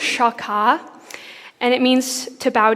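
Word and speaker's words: שחה: So it's pronounced shakah, and it means to bow down.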